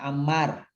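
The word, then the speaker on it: عمار: Kalau ada alifnya dibacanya Ammar.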